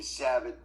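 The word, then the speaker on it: Savitt: 2 T's for Savit. The first T is silent.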